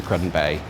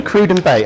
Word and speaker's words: Cruden Bay: probably doesn't get loads of attention which is cruden Bay um has anyone been to crudden Bay a coup cruden I see I knew there was going to be something okay cruden bay I'm going to have to relearn that pronunciation